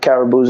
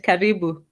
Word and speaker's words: Karibu: Habani Pop Tarts and Caribous and Mooses? No? No, Amani and Karibu. Amani is peace, Karibu is welcome. So Caribou and Mooses. No, it is Karibu, not Karibu.